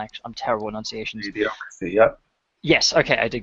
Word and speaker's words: Idiocracy: How the fuck you pronounce it? I can't actually. I'm terrible with enunciations. Idiocracy, yep.